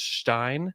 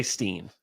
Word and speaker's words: Hartenstein: I think you can say Stein. I think that the correct way to say it is Stein. Yeah, the But- German way. Like but- Schlecht. Yeah. But you can say it's Stein. Slecht. Just don't say Steen. Can we just say Slecht?